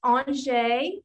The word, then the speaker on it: Anger: our special guest, Kate Angé. I know when you saw her name, you were thinking it was going to be pronounced another way, but she told me her father was French.